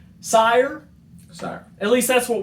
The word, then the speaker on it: Sire: There's been some discrepancy I've seen on the internet about how to pronounce it. Some people say Seer. A lot of variety. For our purposes, though, we're going with Sire.